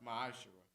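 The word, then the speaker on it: מעשר: malachi 3 8-10 means 10th in the hebrew is pronounced maisha 10 of every penny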